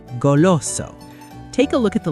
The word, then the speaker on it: goloso: First up is goloso.